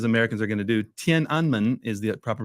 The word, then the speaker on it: Tiananmen: mean just educate me on like what was tenan square and am I even pronouncing it right all about yeah not quite right but it's okay as good as Americans are going to do Tien anman is the proper pronunciation Tien anman literally means